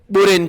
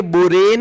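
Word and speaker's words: borane: बोरेन की, BH3 की करानी है। रिमेंबर, आपको बिल्कुल अच्छे से प्रोनाउंसिएशन रखना पड़ेगा, ये बोरेन है ना कि बोरॉन।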